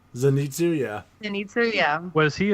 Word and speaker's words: Zenitsu: listen, we're gonna get to the characters and stuff, but I have to know, was however the fuck you say his name, Zenitsu? Zenitsu, yeah.